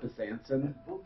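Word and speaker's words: Besançon: It's pronounced Besanson, so the C sounds like an S.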